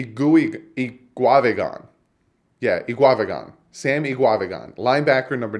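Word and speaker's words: Eguavoen: Sam now one of you guys helped me pronounce his name he GUI eat guava GaN yeah II guava GaN Sammy guava GaN linebacker number 94 49 sorry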